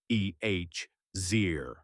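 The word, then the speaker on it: עזר: The first Hebrew word is eer pronounced roughly ehir.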